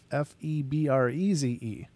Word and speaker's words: Febreze: It just doesn't look right to try this for the single E to make the double EE sound. However, maybe squiggly line on top is supposed to indicate it's a long E.